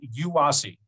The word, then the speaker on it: UASI: metropolitan area in the united states has a yuasi okay that's how we say it that's that's how we pronounce it uh and then ours is bay